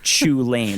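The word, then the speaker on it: Chulane: He's going to talk about Chu Lane. That's how it's pronounced, right?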